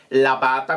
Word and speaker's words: Labata: E quindi usate la chiocciola e poi Labata, che si scrive Labata, come si pronuncia, tutto attaccato, con B lunga, mi raccomando.